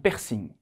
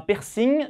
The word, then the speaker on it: piercing: 여기 piercing이라고 안 하고 이상하게 불어로 piercing이라고 해요. un piercing.